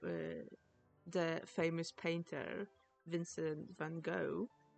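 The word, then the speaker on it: Van Gogh: That's why for example uh the famous painter Vincent Van Go it's in Dutch it's pronounced Vanhawk. So this is actually the correct way to say his his name because they don't have the G sound.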